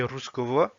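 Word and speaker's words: русского: Autre cas où ça peut se prononcer V, c'est quand c'est entre le deux O. Par exemple, tout à l'heure, au début de la diapositive, on avait Ruskovo.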